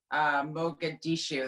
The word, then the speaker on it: Mogadishu: So knowing that about Mogadishu, that's how you say it, that Mhm.